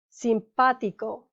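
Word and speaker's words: simpático: the emphasis is on the third to last syllable one two three boligrafo simpatico one two three damilo one two three remember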